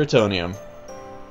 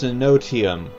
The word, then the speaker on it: Enotium: Okay, now to search for Etonium. I keep saying Etonium, it's Enotium. Enotium, Enotium, Enotium, Enotium.